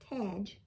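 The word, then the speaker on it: Tadgh: this author's first name it's t a d g h tag bentley he did the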